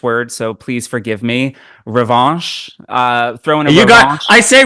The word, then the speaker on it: Revanche: Revanche, like that's my like rhymes with ranch. That's my you want some ranch dressing there?